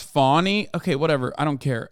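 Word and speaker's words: Fani: One is, it's pronounced Fawny.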